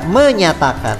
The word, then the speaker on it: menjatakan: Kami bangsa Indonesia dengan ini menjatakan, itu dibaca menyatakan, ya, itu ejaan dulu.